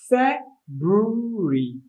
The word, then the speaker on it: February: due to mispronunciation because it's pronounced correctly as fair brewery fair brewery or something say although that view was correct some years ago february or some people tend to remove the r please pronounce correctly fat brewery and spelled f e